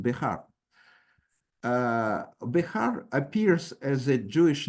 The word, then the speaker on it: Behar: And so it can have it has nothing to do with the surname, which is pronounced Bihar.